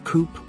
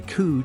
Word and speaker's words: coup: give it a try pronounced as coup usually mispronounced as Coupe or C the word coup is borrowed from French and means a sudden often violent overthrow or accomplishment the p is silent let's take an example now